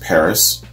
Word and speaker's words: PVRIS: doing forever followed by i believe it's pronounced paris spelled p-v-r-i-s and they're doing st